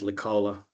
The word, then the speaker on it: Licola: Yeah, B's closer. It's actually pronounced Licola.